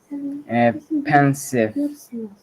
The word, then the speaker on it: pensive: Pensive. Perfect, Rezan. So you remember that if there's an E at the end, it's probably silent. Yeah. And that's common in English.